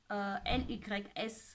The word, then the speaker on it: LYS: J'ai aussi la lisse. Les Américains prononcent LYS Beauty.